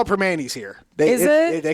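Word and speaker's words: Primanti's: They call it Permani's here.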